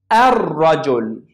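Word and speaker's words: الرجل: Ar-rajul. I didn't pronounce lam.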